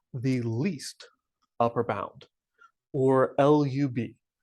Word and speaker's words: lub: least upper bound or lub I've seen some people pronounce it as love I'm going to always refer to it as the least upper bound or the lub um I'll also mention